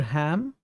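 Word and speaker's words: Halm: the right of tear prior ham you don't pronounce the L well I'm happy to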